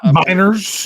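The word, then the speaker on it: Meinerz: Miners, is that how you say it? Yeah.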